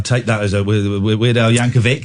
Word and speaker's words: Yankovic: the next Weird Al Yankovich ladies and gentlemen thank you very much indeed I'll take that as a weird Yankovic is actually pronounce Yankovic it's a hard see been on the show